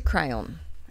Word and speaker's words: crayon: Yeah, I think I pronounce it a bit more with an on, not an on. I think a lot of Americans emphasise the on. We're in Australia, we're a bit more on.